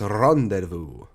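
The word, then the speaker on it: rendezvous: Rendes Vus or Rendes Vos, but it's pronounced Randu.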